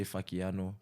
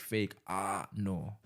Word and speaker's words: Fakeano: knows me by that some people pronounce it wrong and they say fuckiano it's like bastards yeah I used to get so upset and then now like on my BIOS like I put the pronunciation like fake ah no you know like